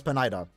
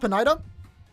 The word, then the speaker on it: Pineda: Is it not Pineda? Is it Pineda? Listen, we've never heard his name. I've been saying Pineda like for a while now. I did notice that I'm probably saying it wrong. It's Pineda, right? Pineda?